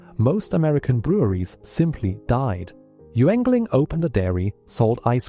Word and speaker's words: Yuengling: Yuengling, pronounced Yuengling, founded in Pottsville, Pennsylvania in 1829, it is